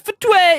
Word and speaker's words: FTUE: user experience blizzard said ftue is how it's unofficially pronounced by the way um uh blizzard said footwear is designed to gradually